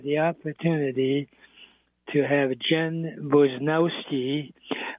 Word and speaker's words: Barnowski: And I'm so pleased that I have the opportunity to have Jen Bnowski, who by the way in Polish should be pronounced Bonavski.